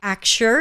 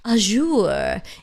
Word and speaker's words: Axure: actual action and again that's why acture is pronounced that way it's kind of like action i see many people trying to give a frenchy pronunciation to it it's azure it's actual it's really just actual like action kyle says thanks to